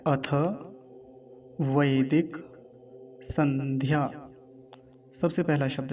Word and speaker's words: अथ: कुछ लोग अथे ऐसा बोलते हैं, अथे नहीं, अथ थ।